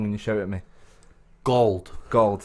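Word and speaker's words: Gauld: Gold, not like old but with a G. Okay. Not old with a G. Not Gould.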